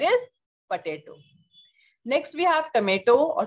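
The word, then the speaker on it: tomate: potato next we have tomato or tomato okay in french it is tomat the spelling is almost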